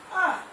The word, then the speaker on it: hour: My uncle is an MAML, R, HOUR. बच्चों H is silent here.